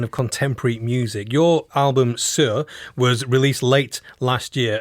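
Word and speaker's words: Saor: Sir is spelled S-A-O-R, right, Claire? Yeah.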